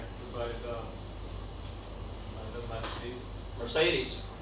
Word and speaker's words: Mercedes: Mercedes. That's not Mercedes. Mercedes, Mercedes. Everybody, come on. I'm writing over here pronunciation, okay? Not spelling of Mercedes, right? Mar, and then say Mercedes.